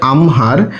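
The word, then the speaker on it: আহ্মার: এখানে একটু দেখো যে আমরা কিন্তু লিখবো এভাবে কিন্তু উচ্চারণ করার ক্ষেত্রে আগে মটা চলে আসবে আমরা যখন লিখছি তখন কিন্তু হ নিচে আমরা হল চিহ্ন বা হস চিহ্ন দিলাম যোগ চিহ্ন দিলাম এবং ম লিখেছি কিন্তু উচ্চারণের ক্ষেত্রে আগে মটা চলে আসবে বলব যে আমহার তাহলে আমরা এটার বাংলা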